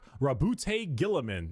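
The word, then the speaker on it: Roboute Guilliman: Primark Rabbout Gillamin.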